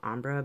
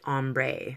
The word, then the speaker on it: ombre: gradually getting darker it's like an ombre or Umbro however you like to pronounce it wherever you are from I'm used to saying Umbra but I was corrected politely by someone on my channel saying we call it ombre so I don't know